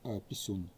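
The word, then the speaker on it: P1-SUN: Ось і за допомогою дрона, який називається P1 Sun, але воно читається як пісюн.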